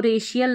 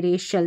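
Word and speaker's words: racial: अब यहां पर इसको रेशियल नहीं रेशियल पढ़ेंगे। रेशल सी आई एल आ गया तो शल करके प्रोनाउंस करना है।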